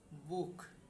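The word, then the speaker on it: Buch: যেমন বুক, এই যে উ এরপরে সে হা, তাহলে এই তিনটা অক্ষর মিলে কি হবে?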